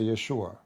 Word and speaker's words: Yeshua: By the way, nowhere in the Quran mention the word Jesus, just take a note. And the correct way to say the word, actually, to say Yeshua. Yeshua or Yeshua. Not even Jesus in English.